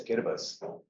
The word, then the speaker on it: Kiribati: And it's in a place called Kiribati. The TI is pronounced as a S sound for some reason.